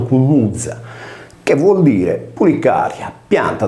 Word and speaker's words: κνυξα: Nel greco antico compare il lemma cunuzza, pronunciato cunuzza, che vuol dire pulicaria, pianta dal cui unguento si produceva una sostanza che secondo la tradizione cacciava via le pulci.